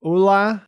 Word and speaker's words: Ole: So I do understand that this, along with Gator saying that he pronounces it Ulla, means that his real name is Ole Munch.